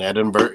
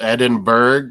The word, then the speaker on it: Edinburgh: In Edinburgh, it's spelled Edinburgh, but it's Edinburgh.